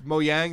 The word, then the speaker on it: Mojang: It's Mojang. There's no j sound, I believe, in Swedish, so it's a ja.